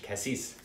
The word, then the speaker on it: Cassis: I pronounce her name in like French, Cassis.